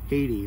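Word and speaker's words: Hayti: went up into um Haiti Missouri Haiti not not spelled the same way it's spelled with a Y um and had some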